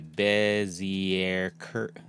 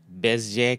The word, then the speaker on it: Bezier: A Bezier curve, pronounced Bezier, Bezier curve, a Bezier curve. I'm saying Bezier. This says Bezier. Ah, there we go, Bezier. All right, a Bezier curve. That sounds more like it.